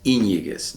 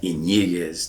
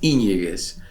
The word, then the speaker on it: Yñiguez: And I would always place the accent on the Y, which is Yñiguez, not Yñiguez, not Yñiguez, but Yñiguez.